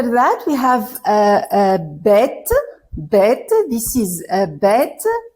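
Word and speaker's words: ב: point here we say bet but if if there isn't a point if without a point it's the it's it will be pronounced V okay V so after uh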